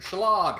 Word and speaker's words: shillelagh: Number 1, Shillelagh or Shalag. And- I don't know how to say it. it's shillelagh. Shalala.